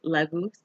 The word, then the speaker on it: Laguz: And the pronunciation is Laguz. Kind of how I was saying.